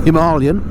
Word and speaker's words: Himalayan: to go on that new version of the himalayan or himalayan as it's properly pronounced once it's available to me of course